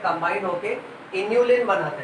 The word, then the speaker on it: inulin: Inulin. And what is this? Insulin. इसको अक्सर लोग इंसुलिन पढ़ लेते हैं गलती से, तो स्पेलिंग ध्यान रखने का कि हम इंसुलिन की बात नहीं कर रहे, हम इन्यूलिन की बात कर रहे हैं.